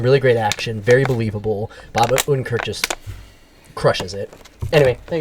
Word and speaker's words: Bob Odenkirk: It was so, and I don't want to get his name wrong. Is it Bob Odenkirk? It is Bob Odenkirk.